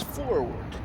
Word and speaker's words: forward: discussed a bit ago, imagine my surprise when I discovered how many people pronounce the word forward. Now, I think I had every right to expect this to come out as forward, even though I struggled